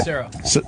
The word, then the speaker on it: Sestero: Sestero. Is that how you say it? Sestero.